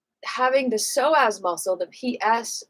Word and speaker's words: psoas: PS the so as you know it's one of those weird spellings with a silent P because we don't want to talk about the P word right on YouTube. It's like psychology.